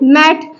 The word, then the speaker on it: mat: अब देखो यहाँ पे थर्ड लेटर कोई वॉवेल नहीं है, तो अभी इसका प्रोनाउंसिएशन क्या कर रहे हैं, मैट। अगर इसका यहाँ पे थर्ड लेटर